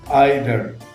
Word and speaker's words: either: The next, listeners, is aɪðə, aɪðə, E-I-T-H-E-R, aɪðə. For the record, Americans do not say either, they say either, either.